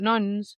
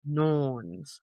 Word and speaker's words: Norns: The Norns, not nuns, Norns, lived beside the roots of another word I can't pronounce.